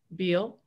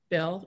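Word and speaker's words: Beall: it used to be beal bell excuse me i always see his name which is not pronounced the way it looks uh senate budget committee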